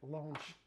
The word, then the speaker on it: launch: ويمكن الثانيه long يعني فيها مد شويه launch اللي هي اطلاق، وعارفين طبعا كلمه launcher اللي هو منصه الاطلاق.